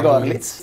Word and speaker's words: Görlitz: Sono andati in Germania, nella piccola cittadina di, credo si dica, Görlitz. Gorlitz, scrive Minsk, si legge Gorlitz, dove hanno trovato un centro commerciale costruito in stile Art Nouveau.